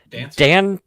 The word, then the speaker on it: Dantzler: Yeah, Cameron Dantzler. Dan Tasler? Dantzler. How? Yeah, Dantzler? I would say Dantzler, like dance, Dantzler?